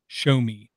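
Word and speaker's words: Xiaomi: they teamed up with Shomi which is spelled nothing like the word sounds like show me x io m IA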